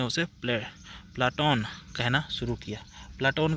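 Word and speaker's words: Πλάτων: इसलिए उसके शिक्षक उसके व्याम शिक्षक ने उसे प्ले प्लाटोन कहना शुरू किया। प्लाटोन का अर्थ होता है चौड़ों कंधों चौड़ा कंधे वाला। चौड़ा चपटे चौड़ा और चपटा। प्लोटो शब्द यूनानी का उच्चारण प्लेटोन है।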